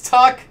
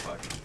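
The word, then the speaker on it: Tuch: Pretty sure it's Tuck. Okay. I thought it was Tuke or Tooch. And everybody said it's like spelled like Tuck. Or pronounced like Tuck.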